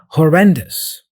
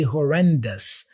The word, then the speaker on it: horrendous: pronunciation here I say horrendous so the ending here this o s ending sounds like us us okay be careful